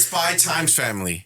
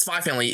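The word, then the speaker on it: Spy x Family: call it, it's Spy Times Family. You could no, it's just Spy Family. The X is silent.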